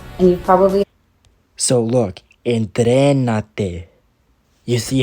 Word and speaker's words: entrénate: So this is where the accent goes. So you say, entrénate, and you probably... So look, entrénate.